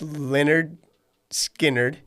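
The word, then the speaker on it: Lynyrd Skynyrd: why I'm going with Leonard skinnard pronounced Leonard skinnard yeah because Freebird Simple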